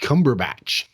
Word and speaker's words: Cumberbatch: Rowling, Daniel Craig, and Benedict Cumberbatch.